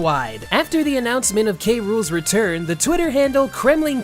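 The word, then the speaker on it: K. Rool: meant the world to see the love for k rool and though sakurai was too busy to directly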